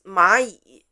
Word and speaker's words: 蚂蚁: The fourth word is 蚂蚁. Repeat after me the spelling. 马蚁 is 整体认读音节, so we don't spell. Both 马 and 蚁 are in the third tone.